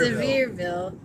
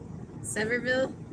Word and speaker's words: Sevierville: us but it's cute so Sam says it's pronounced so severe Sevierville it's the home of Dolly Parton oh okay cool how did you say it Sevierville instead of severe I don't know Larry said